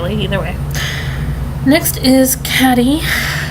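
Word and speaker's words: Caddie: know it next is caddy split CA ddie which can also mean I was Katie but I like the Caddy pronunciation then we have Carlin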